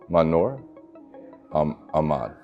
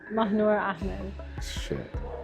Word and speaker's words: Mahnoor Ahmad: Manor Ahmad. Manor Ahmed. Okay. Well, but both pronunciations are valid.